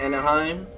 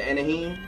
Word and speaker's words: Anaheim: pepper we got the grand bell pepper the Anaheim the anaheem keep pronouncing it wrong and a teeny weeny jalapeno